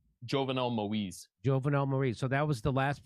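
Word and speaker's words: Jovenel Moïse: Jovenel Moise.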